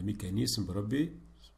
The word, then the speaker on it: mécanisme: Alors, le mécanisme, ça se prononce S et non Z. S, ça se prononce Z lorsque se trouve entre deux voyelles.